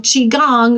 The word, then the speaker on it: Qigong: Qi Gong, spelled with a Q, Q-I, is a technique similar